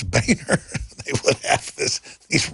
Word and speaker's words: Boehner: our government Boehner Boner it's his real name why not just pronounce